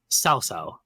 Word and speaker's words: Cao Cao: The mm, original 4 games, they pretty much mispronounce all their names, but the most famous one that was mispronounced was Cao Cao.